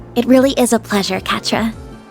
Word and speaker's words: Quatre: You can just call me Catra if that's all right. You don't mind? Catra, I didn't remember how it's pronounced.